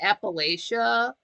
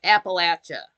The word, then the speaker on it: Appalachia: like Appalachia is that it's not Appalachia it's Appalachia like throw an apple at you that's the way to